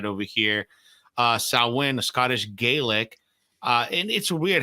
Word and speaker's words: Samhain: swind section of Wicky right over here uh sawin a Scottish gelic uh and it's weird how it's written but how it's pronounced right it's written Sam Haye but pronounced sawin uh so anyway so this is part of